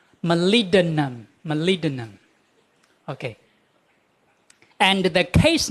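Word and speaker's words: molybdenum: Malidinum. Malidinum. This B does not pronounce here. B. No sound. Malinum.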